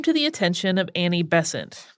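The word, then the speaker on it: Besant: the attention of Annie bessent most American pronunciations of this seem to rhyme with crescent so we're going with that she was a socialist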